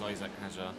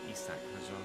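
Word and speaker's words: Isack Hadjar: We're driving as Isaac Hajar. Isak Hajar, depending on how you want to pronounce it.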